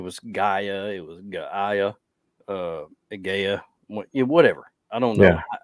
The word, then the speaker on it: Gaia: So the AI makes the I sound normally. So we'll call it Gaia.